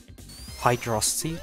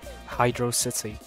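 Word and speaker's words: Hydrocity: And Sonic, if I correctly pronounce it Hydrosity, like me, because I'm cool. And Tails, the less based one, pronounced it like Hydro City, which is a bad take, personally. I'm joking.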